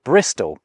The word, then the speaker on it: Bristol: Thus, with a bit of laziness thrown in around the middle, you get from Bridgestow to Bristol. Although, I think locals kind of do pronounce it Bristow.